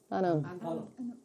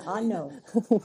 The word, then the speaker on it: ano: Ano. Ano. Ano. Ano. Ano. Ano, not ano. A-N-O. No, no, no. It's like opposite of no. The opposite of no, yes, an ano.